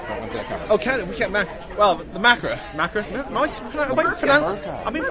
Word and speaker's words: Macra: Oh, the Macra. Macra? I've been pronouncing Macra wrong in the office for the last how many months?